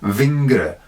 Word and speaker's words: vingre: than that and hill, and v rather than f, as in vingre for finger, and onderving.